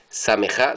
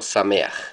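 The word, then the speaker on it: שמח: Aj y no ja, como en sameaj, no se dice sameja, sino sameaj.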